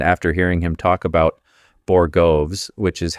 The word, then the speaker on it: borogoves: Middleton is out here laying down the ponytail of justice and after hearing him talk about Borogoves, which is how you actually pronounce it, I found a couple of interesting things I'd like to share.